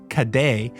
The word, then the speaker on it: cadet: The Scottish locals eventually altered the French pronunciation of cadets, which they would have called "caday", into the word caddy, giving us the term we still use today.